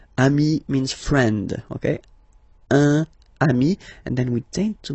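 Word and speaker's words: amis: Remember, if you want to put the plural form, then you just add this final s here. Okay? But then technically you pronounce it the same way. So singular form amii plural form you add this s but it's amii as well.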